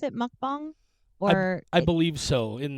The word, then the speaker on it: mukbang: I guess I didn't realize, I assumed it was pronounced mukbang. Let's see. Mukbang pronunciation. Let's see. Oh, it's definitely mukbang.